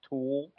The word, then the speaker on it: Thul: So, Nikki, just so you know, his last name is spelled THUL. It's pronounced Tool.